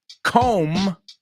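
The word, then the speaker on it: comb: rhymes with get absolutely com rhymes with Dome absolutely and Tom rhymes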